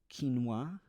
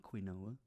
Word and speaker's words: quinoa: items they bought there quinoa I said it right it's not quinoa and almond milk I